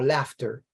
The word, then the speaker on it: laughter: Una palabra como laughter, que suena una F ahí, no hay ninguna F.